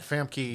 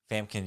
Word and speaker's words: Famke: Famkin Yamkin. That's not how you pronounce her name. It's Famke not.